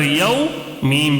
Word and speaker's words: یوم: ٹھیک ہے، یا واو زبر یو، میم زبر ما، یوم. اب اس کو یاد کر لینا ہے پہلے، یوم، یوم، یوم، یوم، اس طرح.